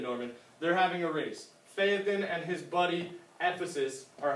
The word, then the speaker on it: Phaethon: One of the ways you pronounce ancient Greek names is you want to hit all the vowel sounds. So Phaethon, and a lot of the vowel sounds are going to be long, even though they're double.